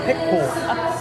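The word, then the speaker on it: Picpoul: Wait, how do you pronounce it? Pic Pool.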